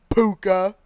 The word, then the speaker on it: Puka: gonna look you up Puka I need a I got the pronunciation ok I jr. sound like a bear like puka bear yeah there's some polar